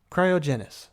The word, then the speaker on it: cryogen: are colossal in size cryogen pronounced cry o gen is the technical name